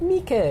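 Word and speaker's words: Miike: do know Mikey because I used to think it was Mike with two eyes but people are like Mikey I'm like okay that's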